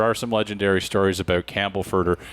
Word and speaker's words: Campbellford: I worked in Peterborough for a while, so there are some legendary stories about Campbellford, or Camberford, if you pronounce it like a local, I think.